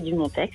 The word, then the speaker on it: Dumonteix: Bonjour Brigitte, bonjour Monsieur Dumontex. Bonjour Reine. C'est bien, vous avez prononcé son X, il y tient.